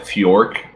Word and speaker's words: Fjork: I would call that Fjork, like Fjord, but with a K instead of a D.